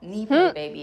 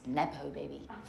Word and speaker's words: nepo baby: It's not neo baby. It's Nepo baby.